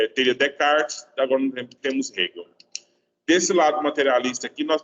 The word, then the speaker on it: Hegel: Nunca fala Egeu. Nunca na vida. Nunca fala Egeu. Porque é um nome alemão, certo? Você pronuncia o H, ele tem um som meio disfarçado de R, né?